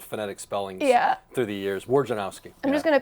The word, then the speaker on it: Wojnarowski: Wojnarowski. Okay, you say it different we spelled it out phonetically for the kids. We sent them to school with phonetic spellings through the years. Wojnarowski.